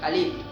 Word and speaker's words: kalib: Totalmente kalib, acento en la I.